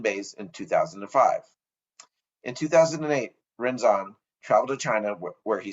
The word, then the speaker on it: Rinzan: Today, my guest is Rinzai priest, Rinzan. Great start. Rinzan, it's Rinzan Okay.